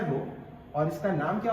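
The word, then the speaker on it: ρ: इसको हम लोग प्रोनाउंस करते हैं बच्चों, इसको हम लोग प्रोनाउंस करते हैं रो से, इसको पढ़ते हैं रो, और इसका नाम क्या हो जाता है बच्चे, रेसिस्टिविटी।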